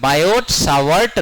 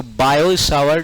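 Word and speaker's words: Biot–Savart: तो हम लोग पढ़ते हैं बायोट सावर्ट लॉ। क्या जबकि बायोट का टी साइलेंट होता है। सावर्ट में भी टी नहीं के बराबर बोला जाता है। तो बायोसावर्ट लॉ होता है।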